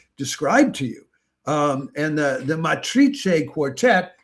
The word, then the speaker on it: Matrice: And the Matrice Quartet, I'm trying to pronounce it in the Spanish way, is Alina Sitnikava, Alicia